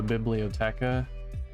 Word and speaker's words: biblioteca: where is the library the biblioteca that's how you put how you say it in italian like a bibliography but like technology biblioteca and of course you